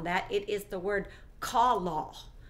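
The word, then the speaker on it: כָּלָה: As we click on that, it is the word kalah, kalah. It's spelled K-A-L-A-H, but it's pronounced K-A-W-L-A-W, kalah.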